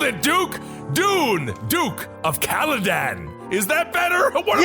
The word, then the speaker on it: Caladan: Dune, Duke of Kaledan.